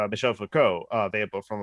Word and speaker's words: Foucault: No, I believe you'll find that according to French expert Sargon of Akkad, it's Foucault. Sure, it's not fuck you. I'm pretty sure someone has mispronounced it that way.